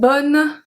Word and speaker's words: bonnes: And BONNES, we don't pronounce the E and the S for feminin pluriel.